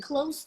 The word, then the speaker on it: close: a z once again the verb is pronounced with a z and the adjective with an S Jefferson said oh so